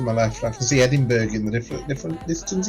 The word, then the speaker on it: Edinburgh: left I can see edinberg in the different different distance even ah capital city of Scotland Edenberg that's right is it the way you say mberg that's the American pronunciation oh that hurts that's